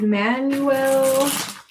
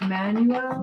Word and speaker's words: Manuel: Manuel? Manuel. Yeah, Manuel. I always say that name wrong. Manuel, not Manuel. No, that's the Manuel. way you would say it in English, but in Spanish it's Manuel.